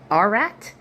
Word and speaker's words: Ararat: on the mountains of I'm probably going to pronounce this wrong. Ararat A R A A R A R A R A T Ararat.